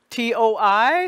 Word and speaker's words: toi: We have T-O-I spelling. The O-I becomes the wa, toi.